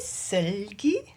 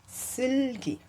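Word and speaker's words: Seulgi: And then today, I finally said her name, and she was correcting me, saying, no, that's not how you say it. You should say Silgi.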